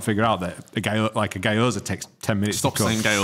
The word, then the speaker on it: gyoza: Gyoza? How do you pronounce it? Gyoza.